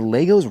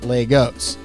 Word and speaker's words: Lego: the magical world of Lego and yeah I said it right it's Lego not Legos you know what maybe